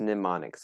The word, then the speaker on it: mnemonics: but it's just pronounced mnemonics it's like one of those things the m is there but it's not really how you say it like pneumonia or pneumatic wait is that a